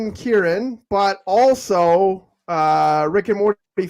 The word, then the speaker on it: Kieron: You can also find me at my name, which is it's spelt down here. Oh, Sean took it away. It's KIERON. Kieran.